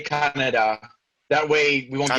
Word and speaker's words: Kaneda: It just So for the purposes of this, I'll say Kaneda. That way we won't get people upset about how we pronounce things. I'm pronouncing like the way it was on the movie.